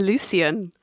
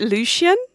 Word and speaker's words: Lucien: I think I've been saying Lucien, but they pronounced it Lucian.